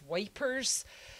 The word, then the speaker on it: Ypres: been well trained uh is at ape y-p-r-e-s and i think i said last time that the british referred to that as wipers because they did like to have to pronounce things the french way you know they're kind of obstinate countries especially those english people so uh wipers or apes so they they actually